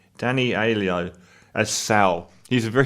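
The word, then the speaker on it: Danny Aiello: works for danny elio pronounce his name danny alio as sal he's a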